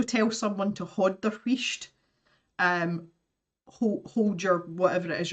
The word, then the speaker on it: wheesht: And then S-H-T, wheesht.